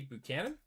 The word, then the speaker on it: Buchanan: Got a refractor of Tai Hamilton and Ted Teddy Buchanan.